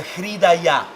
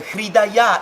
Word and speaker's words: Hridaya: There's another point here that I love that is related to this part, that is called the hridaya.